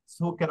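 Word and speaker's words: zucchero: এটা জু বা সু এরপরে সি অক্ষর আসছে এই যে সি অক্ষর আসার কারণে কি এটা সুক স্বর উচ্চারণ করে ফেলছে এটা ইটালিয়ানরা ভুল করবে ইটালিয়ানরা ভুল করে কয়েকটা অঞ্চল ভিত সব অঞ্চলে ভুল করে মানে শুনতে শুনতে বলতে বলতে অভ্যাস হয়ে গেছে ওকে এটা হবে সুকেরো আর আমরা বাঙালি বা স্ত্রীরা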